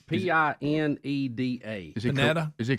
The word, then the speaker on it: Pineda: It's Pineda.